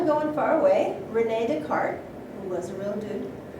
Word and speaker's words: Descartes: Descartes, spelled so we don't have the pronunciation on the S at the end, so that means probably French. All right, so he is very sick.